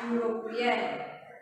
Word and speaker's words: European: I saw dash European. I saw dash European. It starts with the vowel. It starts with the letter E, but we should not use the article an because it sounds U.